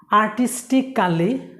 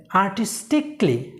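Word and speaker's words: artistically: আর্টিস্টিক্যালি, এটা ভুল, এটা উচ্চারণ হবে আর্টিস্টিকলি।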